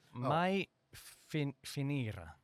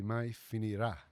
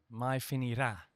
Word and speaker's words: Mai Finirà: Mai Finira. Okay, so there's an accent on the A, so it's actually Mai Finirà. Mai Finirà.